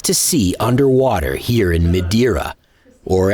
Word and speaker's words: Madeira: Pedro and Joao are excited to show us some of the great things to see underwater here in Madeira, or as the locals say it Madeira.